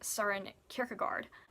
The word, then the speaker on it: Søren Kierkegaard: So number 9 is Works of Love by Søren Kierkegaard. Often his name is pronounced incorrectly, Søren Kierkegaard.